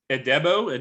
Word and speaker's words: Adebo: So we're going to move on to Mark for Paulson Adebo. Did you know how to pronounce this? Adebo is what I've heard other non-experts saying. So we're going with Adebo.